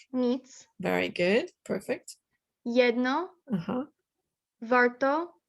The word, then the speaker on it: warto: jedno, warto, You got to roll your R a bit. warto, Warto.